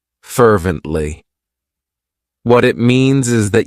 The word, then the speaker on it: fervently: It has three syllables and the stress is on that first syllable. Fervently.